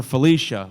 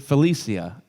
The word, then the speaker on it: Felicia: I called her Felicia, like bye Felicia. And she pronounces it Felicia.